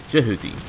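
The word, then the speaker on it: Jehuty: with a very great name the fist of djibouti or if the zone of the enders is to be believed it is pronounced Judy extracting this as well as jackal I believe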